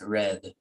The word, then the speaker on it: read: but change the pronunciation we write it the same but we pronouncing as red gabby has read the